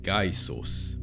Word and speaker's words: gaisos: G was always a hard G sound, like in gear, never a soft G like in George. For example, gaisos, which means spear or javelin.